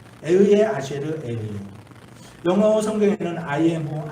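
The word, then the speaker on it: אהיה אשר אהיה: 이 히브리 말로 에흐예 아쉐르 에흐예라고 이렇게 발음해요. 에흐예 아쉐르 에흐예.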